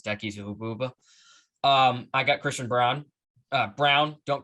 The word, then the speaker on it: Braun: um i got christian brown uh brown don't call me braun that name makes no sense it's spelled b-r-a-u-n and it's pronounced brown i mean come on